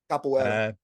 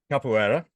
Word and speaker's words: Capoeira: Now I've got to try and pronounce this right. Caipoerista, Capoeira. Capoeira.